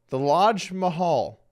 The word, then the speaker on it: Lodge Mahal: The Lodge Mahal. I'm pretty sure it's because the Lodge rhymes with Taj.